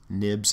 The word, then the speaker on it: xib: these are called storyboards a dot xib we pronounce these nibs as well but these